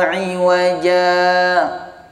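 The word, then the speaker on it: عِوَجًا: Walam yaj'al lahu 'iwaja qayyima. Sama-sama. Walam yaj'al lahu 'iwaja qayyima. Bukan 'iwaja, bukan hamzah.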